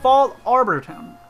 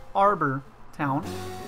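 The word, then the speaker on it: Fallarbor Town: Is that how you say it? Yeah, Fall Arbor Town. Not Arbor Town.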